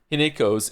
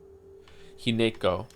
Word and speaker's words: Hinako: Hineko. Didn't they say Hinako at some point though? I remember it being pronounced without the ne.